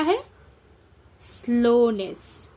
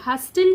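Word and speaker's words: hustle: एच यू एस टी एल ई हस्टल नहीं हसल T silent है।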